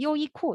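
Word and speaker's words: 优衣库: 그래서 발음으로 하자면 뭐 요, 야오이쿠는 아닌 것 같고 요이코 이런 식으로 발음이 되거든요.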